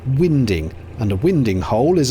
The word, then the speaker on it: winding: Contrary to what some will claim, it's pronounced winding, and a winding hole is a triangular notch cut into the canal that gives narrowboats a wide enough place to turn around.